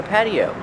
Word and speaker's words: patio: This is an outdoor patio. Pronunciation. Patio. The T is pronounced with a fast D. Patty. Patio.